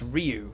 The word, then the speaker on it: Ryu: And with Ryu, and the way I said Ryu, it's Ryu.